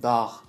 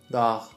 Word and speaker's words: dağ: But for example, a mountain, dağ, it's more guttural, dağ.